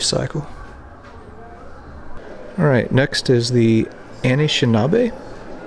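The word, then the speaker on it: Anishinaabe: alright next is the Anishinabe that's the pronunciation I'm going to roll with for right now until I learn different but these are people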